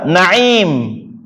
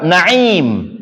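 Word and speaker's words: نعيم: Tapi bacanya harus pakai ain. Kalau bacanya pakai Hamzah beda lagi.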